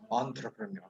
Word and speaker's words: entrepreneur: yeah, it's entrepreneur. The R at the end is silent.